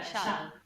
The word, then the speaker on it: shall: Siempre te toca la shall, porque el universo sabe que no sabes pronunciarlo. Shall. Mira, tú lo pronuncias un poco más como la che española, ¿ok? Pero no es che, es sh.